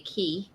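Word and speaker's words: Cay: you're at cocoa and Phil would say key because that's the right way to pronounce it ah I was listening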